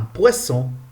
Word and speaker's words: poisson: Double S. Quand on utilise double S au milieu d'un mot, nous prononçons S. Exemple, un poisson. S.